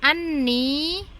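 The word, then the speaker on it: أَنِّي: Jadi bukan anna ni, bukan ya, langsung kita sambung, tapi tetap kita pahami bahwa di sini dua kata, anna dan ni.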